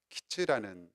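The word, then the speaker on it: קַיִץ: 심판이 임박하였음을 나타내는 환상입니다 여름 과일이라는 말이 키즈라는 발음인데 그것이 끝이라는 발음과 대단히 유사합니다 그런 발음상의 유사성을 가지고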